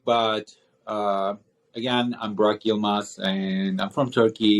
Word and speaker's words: Yilmaz: And forgive me if I pronounced your last name It's all incorrectly. good. Yilmaz, but it's all Oh, good.